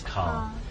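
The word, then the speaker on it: Karl: No, Carl. His name is Carl.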